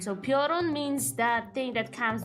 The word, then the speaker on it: Piorun: If it's spelled like Piorun. Yeah, how do you get Prion from this? I have no clue. I have no idea how you get Prion from this. There is no R in front of I, and he's saying Prion, right? He's switching the letters. Oh, the way, like the way he pronounces it, it's like peon but with an R, Prion, Preon, I think.